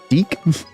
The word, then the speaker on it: DiC: Like Dee, the animation company. Deak. I only know they were pronounced that way because it's they said their own name at the end of the cartoon.